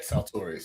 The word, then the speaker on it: Saltorious: Is that how I pronounce it? Yeah, Saltorius. You got it. Saltorius, how are you doing today, Saltorius?